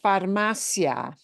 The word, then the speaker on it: farmacia: Okay, because there's no accent mark on the I of pandemia, it's like farmacia, right? Farmacia is not pronounced farmacia.